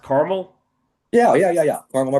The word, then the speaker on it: Carmel: Indy now in a town called is it pronounced Carmel?